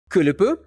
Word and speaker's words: kulupu: Next, we have kulupu, drawn with these three small circles in a group.